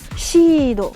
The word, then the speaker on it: Gundam Seed: Ce qui est intéressant là, c'est le seed, S-E-E-D, qui se prononce Shido. Parce qu'il n'y a pas vraiment de si quand on fait Sashisu Seso. Dans la gamme des S, on va utiliser le Shi. On va dire Shido, mais bon, on sait que c'est seed.